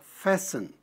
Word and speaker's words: fasten: Você não pronuncia o T, então fica só fasten.